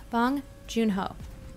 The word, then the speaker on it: Bong Joon-ho: it was so amazing bong joon-ho okay well I had the syllables right I just switch them let's see let's pass